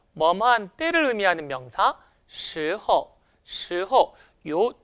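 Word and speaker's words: 时候: 언제라는 말로 이루어졌습니다 근데요 주의하실 것은 성조와 발음이 약간 어려워요 이성 경성 이성 경성의 성조를 취하는데요 같이 한번 연습해 볼까요 스호 스호 스호 요렇게 언제라는 말 사용할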